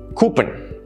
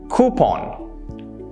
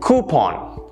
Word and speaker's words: coupon: of us call this coupon well that is incorrect it should actually be pronounced coupon coupon notice the stress it's on coup coupon the coupons gave